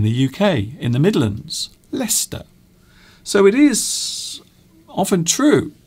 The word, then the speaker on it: Leicester: to say i suppose another example is lester leicester which is a large town in the uk in the midlands leicester so it is often